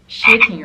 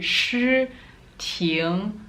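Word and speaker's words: Shiting: How would you pronounce it without thinking too much? Shitting, right? But it's actually shi ting, most likely.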